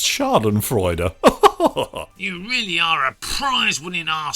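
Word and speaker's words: Schadenfreude: not quite understanding you shard and fried vic i think you'll find it's pronounced shard and freud you really are a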